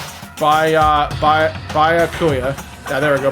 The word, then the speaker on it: Byakuya: do our best to find I can never pronounce that name. Byakuya. Yeah, there we go, Byakuya.